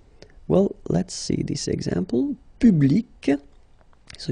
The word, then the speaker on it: public: Public. So you can see that you've got this final C and then you pronounce it, hein?